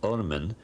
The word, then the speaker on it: Ormen: They only wrote the consonants, and the word is RMN, to be pronounced Ormen, and it means literally the worm.